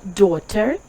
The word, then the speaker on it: daughter: цифрі чотири О І ось це слово daughter теж читається як О лише тому що це дуже давнє слово здається з я якихось германських мов і тому написання залишилося ще там з якогось століття тож просто запам'ятаєте щось